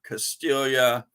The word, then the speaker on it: Castiglia: like kaching albert because his name is actually albert castilla but it looks like counselor doesn't that look like counselor castiglia albert castiglia but that's not how it's said it's albert castilla and uh this release is